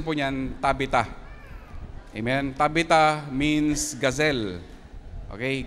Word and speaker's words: Tabitha: Ang pronunciation po niyan Tabita.